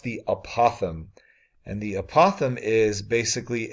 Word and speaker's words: apothem: first need to define this term called the pronounced the apothem and the apothem is basically a segment that